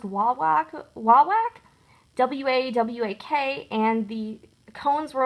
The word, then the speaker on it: Wawak: I ordered some from this company, I think it's pronounced Wawak, W-A-W-A-K, and the cones were only $1.79 on sale, but the sale does end today on May 31st.